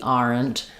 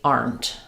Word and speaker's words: aren't: us with the pronunciation because it looks like are. Aren't. And if you're going really slowly, you might say we aren't. But typically, we just say we aren't. We aren't. So, one syllable.